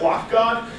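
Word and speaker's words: lock.gd: GD um I pronounce it lock God uh you can pronounce it however you like uh it's also my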